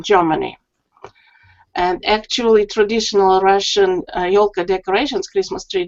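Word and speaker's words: ёлка: Now, tell me a little more about, is it pronounced Yolka? Yolka.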